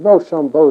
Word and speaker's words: Rochambeau: And it was a good watchword, for when Rochambeau is pronounced quickly, it begins to sound like "Rush on, boys," which is just what we were waiting to do.